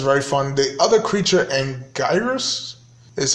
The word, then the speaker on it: Anguirus: The other creature, Anguirus, is how you pronounce the name.